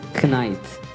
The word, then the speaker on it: knight: Yeah, That's because you completely pronounce different. with the K silent. So. Sword of the Knight.